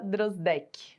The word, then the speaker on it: Drosdek: Meu nome é Drozdek, Olha ou aí. Drozdek, em Isso.